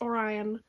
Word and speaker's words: Orion: lake and he's orient it's not orient it's orion um i kept saying it wrong um he is